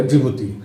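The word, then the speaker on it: Djibouti: अंग्रेजी में जिबूती आपको डी शब्द से स्टार्ट मिलेगा, डी साइलेंट रहता है, लेकिन यही एक कैपिटल पोर्ट है जो रेड सी के साथ पोर्ट बना रहा है।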